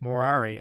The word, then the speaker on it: morari: For he used to say by way of jest that he had ceased morari amongst men, pronouncing the first syllable long, and treated as no many of his decrees and ordinances as made by a doting old blockhead.